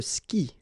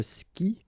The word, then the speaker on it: skie: And then, je skie. Okay, exactly the same thing. Je skie. Okay, you've got this I, and after that you've got the vowel but then you don't pronounce it.